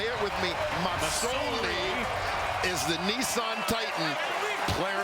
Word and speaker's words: Masoli: It's an S. Masoli. S, not a Z.